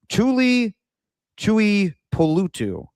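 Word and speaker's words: Tuli Tuipulotu: wrote his name down here so I can pronounce it correctly. Tuli Polutu.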